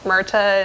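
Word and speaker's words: Myrtha: Myrta and Giselle, the Queen of the Willies.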